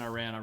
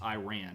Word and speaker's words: Iran: can think of, and I ran Safari. Right. And I actually considered that to be the title for the night, but it's not pronounced Iran. It's pronounced Iran.